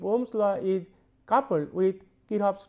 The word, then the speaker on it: Kirchhoff: So, actually the C should remain silent in pronunciation, it will be Kirchhoff's laws, right.